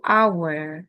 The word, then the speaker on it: hour: Jam kan tulisannya Hur ya, tapi bacanya tuh our karena bacanya our yang diucapkan itu pertama itu vowel sound berarti pakainya an hour.